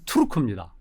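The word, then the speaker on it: Türk: 돌골이란 말은 중국인들이 나쁘게 변한자 말이고 원래 발음은 트루크입니다.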